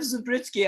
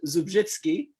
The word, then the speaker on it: Zubrzycki: that second thing is, which my Polish sense can pronounce as Zubrzycki. God knows how you pronounce it in Michigan and your students pronounce it.